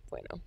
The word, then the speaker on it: Buono: Is that how you say it? Bueno. Yeah.